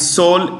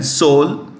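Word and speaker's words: Seoul: South Korea's capital is soul s e o u l s e o u l Soul the E is silent Soul United States we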